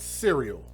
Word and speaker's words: Sereal: Yes, you heard that right, Serial. Not like Tony the Tiger. Serial is spelled Sereal.